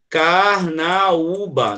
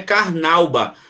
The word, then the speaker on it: Carnaúba: o Nokia saída é para Carnaúba não é Carnauba quer falar fosse Carnaúba não teria nenhum assento nunca seria um ditongo Carnauba tá não é uma sílaba mas é Carnaúba paíse Faísca então e